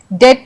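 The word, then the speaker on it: debt: डेट में B silent है। इसे हम डेप्ट नहीं पढ़ते हैं।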